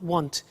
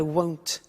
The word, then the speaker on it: won't: the money is won't be careful with the pronunciation it's not want its world so the example is I won't buy it or I